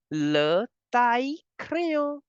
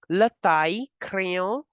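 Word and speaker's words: le taille-crayon: Now again, the two L are between I and E, so you will pronounce it as le taille crayon. The sound of two L will change to Y. Le taille crayon for the sharpener, and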